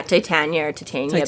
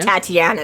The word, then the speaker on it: Titania: Yeah, Titania, but it's just not Tatiana that she keeps trying to switch to.